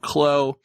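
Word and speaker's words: Kllo: uh 15 articles later finally figured out how to correctly pronounce k-l-l-o it's as simple as it would seem uh they're called clo they're an output out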